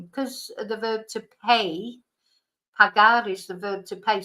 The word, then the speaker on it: pagar: So, because this is pagar, not paygar.